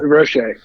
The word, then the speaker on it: Roche: a lot about the first one is Quincy Roche Roche I don't know how to pronounce his name is he French Oh Roche okay the the temple defensive end grad transfer